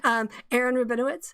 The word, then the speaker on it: Aaron Rabinowitz: So I invited Aaron Rabinowitz, and that I'm doing the emphasis on the correct syllable there, Aaron.